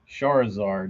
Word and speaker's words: Charizard: Charizard is how it's pronounced.